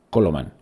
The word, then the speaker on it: Coloman: promulgado por el rey colna coloman o coloman coloman porque no lleva acento en la final en torno al 1100